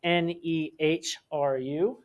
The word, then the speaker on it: Nehru: The first leader of India, his name was Nehru, which is spelled Nehru.